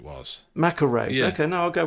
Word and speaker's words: MacIlwraith: Bill MacIlwraith. MacIlwraith, I thought it was. MacIlwraith.